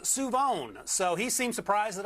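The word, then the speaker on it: Shavon: from where I grew up uh Siobhan is pronounced suon so he seemed surprised that I knew it so uh if you see him walking down the street say hey suon what's up and he'll probably be equally a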